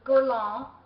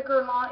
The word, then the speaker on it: Guerlain: one of my subscribers I was saying it wrong which I knew that I would because it's French and I don't have a French thing in me this is the gon it's got the gold